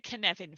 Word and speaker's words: Cynefin: that this is the kinevin framework it's a welsh word the hardest thing about pronouncing it about it is pronunciation it's connecting like kevin with an in it it's a framework